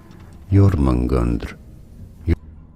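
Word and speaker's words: Jörmungandr: In Norse languages, it is said as Jormungandr.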